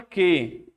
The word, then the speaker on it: que: Quando você pega a palavra que, você vê 3 letras, não vê? Só que dessas 3, tem uma que você não está pronunciando. O U, no caso.